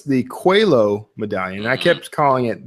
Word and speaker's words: Coelho: it's the blank medallion okay so it's the cuello medallion I kept calling it the Koel home medallion and then somebody was very kind and